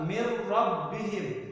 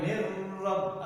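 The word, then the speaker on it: مِنْ رَبِّهِمْ: Yang kedua, mir rabbihim. Enggak boleh mir rabb atau asyhadu anna muhammadar rasulullah.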